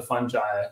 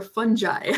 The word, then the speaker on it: fungi: It doesn't. Both are correct. I think with a lot of these things, I think as long as you say it like you mean it, it's okay.